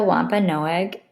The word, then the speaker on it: Wampanoag: Wampanoag.